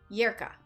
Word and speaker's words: Lerka: Lerka, but it's pronounced Yerka. Okay.